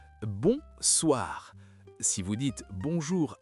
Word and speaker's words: bonsoir: C'est le même principe nasal, bonsoir.